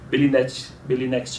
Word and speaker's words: Belinext: Belinext é com 2 L's de legal e o T é mudo, ok?